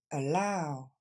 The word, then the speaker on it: allow: qui va se dire all donc ce premier a c'est pas un a c'est juste le son e et c'est la deuxième syllabe qui est accentuée all encore une fois allow dernière fois allow et